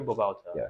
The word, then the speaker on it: Babauta: say your last name Bal Bal Balta okay is that what is that Filipino uh